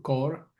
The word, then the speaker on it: Kaur: Se llama Valery, como Valery, pero Valery Kaur Cor se pronuncia, pero escribe K A U R. Valery Core tiene un libro que que se llama en inglés sí no stranger.